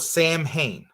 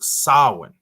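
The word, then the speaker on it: Samhain: at the pronunciation it saw it looks like it's spelled Sam Hayne you know but it actually is in Kelton it's pronounced sauwin okay I'm just gonna say sam Raymond like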